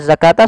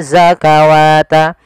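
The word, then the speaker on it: الزكاة: zakata nah pada lafal zakata sama juga sebagaimana penulisan rasem daripada kata salah yaitu di sini bukan dibaca zakawata tapi adanya fathah pada lafal k bertemu dengan huruf alif kecilak Warau padafal Warau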